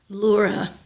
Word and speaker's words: Lura: make sure it's right it's spelled l-u-r-a and it's pronounced Laura it's so neat thank